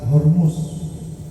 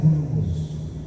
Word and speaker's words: Hormus: Selat Hormus. Bacanya Hurmus. Tulisannya Hormus.